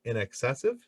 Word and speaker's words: INXS: But so I did notice that in your band, I believe you guys pronounce it INXS.